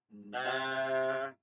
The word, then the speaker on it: বা: আলিফ, আলিফ, বা, বা হবে শুধু দুই ঠোঁট থেকে।